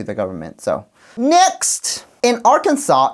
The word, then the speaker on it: Arkansas: Arkansas. Arkansas, not Arkansas.